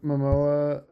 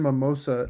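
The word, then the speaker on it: Momoa: When Jack Black and Jason Mimoa, you said it right. I always want to call him Jason Mimosa.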